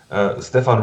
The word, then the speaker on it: Stefan: It's Slavic, it's Serbian. It's Stefan and not Stefan. No, it's Stefan. Yeah, because in Germany we tend to pronounce things a bit harder.